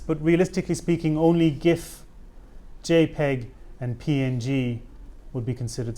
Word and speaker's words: JPEG: few different formats but realistically speaking only GIF JPEG and PNG would be considered standard so GIF